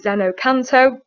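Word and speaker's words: xeno-canto: So a good website that I use is Zenocanto. So you can see it's spelled at the top there, Xeno-CANT.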